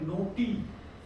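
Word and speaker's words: knotty: नोटी, क्या है? नोटी। यहाँ पे के साइलेंट है इसलिए हमने नोटी पढ़ा।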